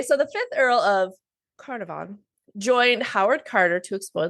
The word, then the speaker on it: Carnarvon: Yeah, the little pronunciation lady said it's Carnarvon. So the fifth Earl of Carnarvon, which Jessica also pointed out probably sounds much better in an English accent.